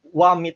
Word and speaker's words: Xiaomi: Xiaomi, pero Wami talagang pronunciation yan.